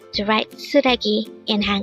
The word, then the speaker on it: 쓰레기: suii what does it mean today on one Korean